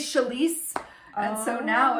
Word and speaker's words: Chalese: nobody could ever say it, and I was always Chelsea, Charlie sometimes. Right. And so, like, I had to get good and confident with saying my name. My name is Chalese.